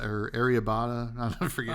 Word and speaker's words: arrabbiata: Um, like an Ariata or Ariabata. I forget how to Oh, yeah, pronounce the it. Like, spicy, like, tomato mm-hmm. sauce, yeah, Like arrabbiata.